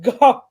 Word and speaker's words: Goff: No, Goff.